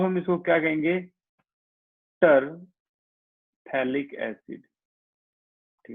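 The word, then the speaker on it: phthalic: हाँ, इसमें P silent होता है, तो इसको क्या बोलते हैं? थैलिक acid.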